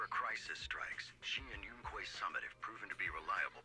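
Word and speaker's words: Yunkui Summit: Whenever a crisis strikes, she and Yunquay Summit have proven to be reliable partners. Yunquay Summit. That is how it's pronounced.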